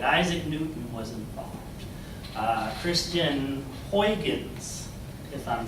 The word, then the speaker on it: Huygens: Remember, the spelling is Huygens. And if my ears are correct, those Dutchmen were saying, Gerhun.